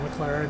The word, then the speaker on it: McLaren: It's a McLaren. Yeah. That is how you pronounce it, right?